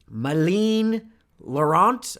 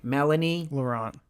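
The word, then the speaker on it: Mélanie Laurent: any further it stars Ryan Reynolds Corey Hawkins Moline Lorant I don't know how to pronounce French people's names but she was in Inglourious Basterds play Melanie Melanie Laurent thank you yeah you saw inglorious basterds right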